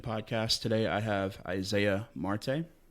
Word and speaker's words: Marte: today I have Isaiah Marte did I pronounce it right yep correct Marte uh it's been pronounced